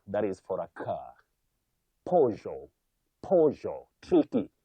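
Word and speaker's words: Peugeot: Avoid saying pediot. Many people innocently say pediot. I have bought a pediot. But that is not in English or even in French. You say pojo. Though some people can say pujo or pujo but pinot no just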